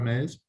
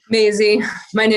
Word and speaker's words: Maisie: Mays. Am I pronouncing that right or wrong? Maisie. Hello, my Maisie. name is Maisie.